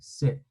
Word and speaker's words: sit: Esta vamos a decir sit. Sit. Y esta es una I larga.